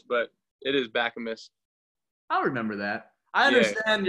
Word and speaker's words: Bakamus: ran back on it okay but everybody says Baca miss back you miss Bok you miss but it is back a Miss I'll remember that I understand your dilemma so